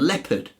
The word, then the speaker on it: leopard: weird and people and jeopardy and leopard I don't suppose this is difficult yeah and also when I was a kid we used to pronounce the awkwardly to help us to remember how to spell it did you pay opal Leo purred I owe your pardon Leo part that's it yeah it's just